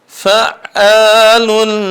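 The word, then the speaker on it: فَعَّالٌ: Fa'alun lima yurid. Masya Allah. Di sini kita ketemu lagi dengan huruf ain. Fa'alun lima yurid. Makanya ain dia termasuk adalah at-tawassut. Dia enggak buru-buru dalam pengucapannya.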